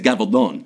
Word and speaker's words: Gabaldon: or drums of autumn we ignorant Americans pronounce it gavel dome Gabaldon gobble don't in Spain it's gavel bone that's the property anyway Diana Gabaldon all